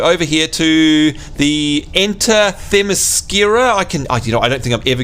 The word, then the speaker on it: Themyscira: So over here to the Enter Themyscira. I don't think I'm ever going to be able to get the pronunciation of that one right.